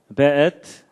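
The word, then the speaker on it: וְאֵת: 베엣. 요게 이제 W인데도 여기에 독일식 발음을 해서 베 이렇게 읽는다고 합니다.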